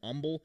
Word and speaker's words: humble: And they don't pronounce the H for some reason in the South, and they call them humble. And I don't quite understand how the H got silent, but it did get silent somewhere in the deep South.